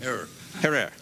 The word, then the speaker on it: Herer: Jack Herrera. Have I pronounced it correctly, Jack? Herrera. Herrera. Okay.